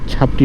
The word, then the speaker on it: ছাপড়ি: সামনে একটা চাপড়ি ভাই আছে, চাপড়ি না, ঠিক ছাপড়ি হবে উচ্চারণটা, আমি নিজে বুঝে বুঝে।